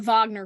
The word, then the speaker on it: Wagner: for them so the Wagner group for example I want to pronounce like a German the Wagner uh Wagner group uh